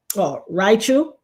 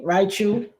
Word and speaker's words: Raichu: This guy comes on Raichu is how you pronounce. Okay. Raichu and thank you Michael